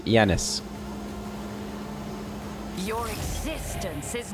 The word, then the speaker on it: Janus: everywhere we go and I've been pronouncing the name wrong it's Janis yanis Your Existence is not